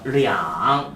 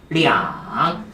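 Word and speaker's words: 两: 량. 발음 시작. 량.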